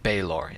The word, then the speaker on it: Baelor: To them, his name is pronounced Balor. However, I pronounced it Baelor in yesterday's video. While my original pronunciation wasn't incorrect, I failed to give fair representation of both options.